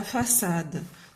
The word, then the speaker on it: façade: Donc première phrase, la façade. Donc puisqu'on a ici A, donc et on prononce S, donc on doit mettre C cédille.